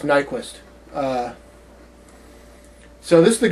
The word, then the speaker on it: Nyqvist: ray pace and michael i would pronounce his name nyqvist nyqvist but it's probably just nyquist uh so this is